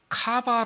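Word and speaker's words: קוה: 소망 이라는 이 말 히브리어로 카바 라고 해요 가봐 발음이 그렇단 얘기 해요 소망 가 박 이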